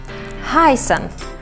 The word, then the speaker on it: heißen: Heißen, E-I, like I, and S, like S in soda.